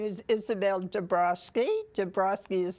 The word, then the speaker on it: Dabrowski: for the record please my name is Isabelle de Broski de Broski is spelled Diaz and Donald a BS in Boston